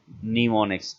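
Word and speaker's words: mnemonics: ए known as निमोनिक्स इसकी प्रोनोंसीएशन है निमोनिक्स MJ5 silent shortcode यह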